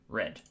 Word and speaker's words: read: disappeared there it is so i i read i read i have there should be space there red okay simple as that